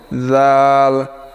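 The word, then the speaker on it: ذال: জাল জাল কোথা থেকে উচ্চারণ হবে? জিহুব্বার আগা সামনের উপরের দাঁতের আগার সঙ্গে লাগিয়ে কথাগুলো একটু ভালো করে বুঝে সেখানে জিহুব্বা ভিড়ে আপনি নরম করে উচ্চারণ করেন।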